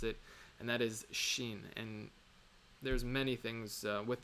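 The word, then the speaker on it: שין: Shh that is only the shin is only pronounced with your teeth so anyway this is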